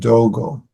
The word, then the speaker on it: Dogo: That's how you pronounce their names in Sino, no, that's in Chinese, and in Sino-Japanese, they pronounce the name Ungan and Dogo.